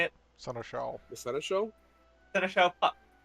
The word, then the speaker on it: Seneschal: Seneschal.